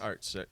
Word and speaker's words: Arzt: How do you say your last name? Arzt? Arzt. Yep. Arzt.